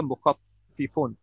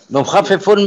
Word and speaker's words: mukhaffifun: all this, is the mukhaffifun. Okay. Acha, sir. Mukhaffifun mein, isme kasra yahan nahi diya hua. Aapne pronounce mukhaffifu kiya hai na. This is kasra. Kasra. It's a kasra.